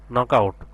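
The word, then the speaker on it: knockout: কয়েকটা দেখি এরপর এরপর সেম এখানেও কি কি সাউন্ডটা সাইলেন্ট থাকবে কে এন ও সি কে নক হবে ও ইউটি আউট নক আউট নকআউট মানে কি বাহির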